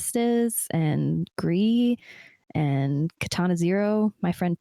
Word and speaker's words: Gris: I would go with gree that was one of my favorite games to play and that's spelled gr is so it's like Gris but it's pronounced gree oh my gosh it